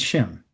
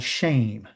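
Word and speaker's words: Shem: Okay, let's begin with Shim. Okay, they call him Shim. The proper pronunciation is called shame. Okay, that's his proper pronunciation. Shame. Okay, not to be ashamed, but shame.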